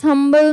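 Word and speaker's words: humble: ही is dash हंबल मैन। His dash हंबलमैन। हंबल में क्या हो गया? एच से प्रोनाउंसिएशन हो रहा है।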